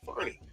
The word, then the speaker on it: Farney: went to voicemail, and I now know how to pronounce his last name, and I believe it's Doug Farney from Detail It.